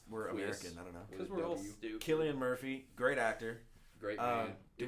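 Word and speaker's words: Cillian: we have to cover it so Oppenheimer uh Celia Murphy Killian thank you I knew I was gonna do that wrong why does everybody pronounce names wrong in here because we're American I don't know Killian Murphy great actor great um well if you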